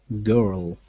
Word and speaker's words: girl: Okay, so girl and world are two examples of dark L's. And so this is how you pronounce them. With the dark L, it's similar to the light L, except your tongue, the tip of your tongue, is further back in your mouth.